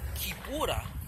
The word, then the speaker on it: Kipura: Kipura is the Kikongo term that the Europeans, especially the Portuguese and Brazilians, mispronounce as Capoeira.